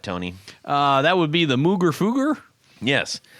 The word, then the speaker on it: Mooger Fooger: That would be the Mooger Fooger. Yes. Or the Moger Foger, if you are someone who says GIF instead of GIF.